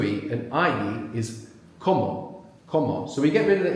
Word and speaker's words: como: When it's to something, comer, and then when it's I, como, like in quiero, puedo.